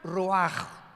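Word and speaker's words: רוח: como suena con R de Raúl, ch al final, Roach y se pronuncia Roaj.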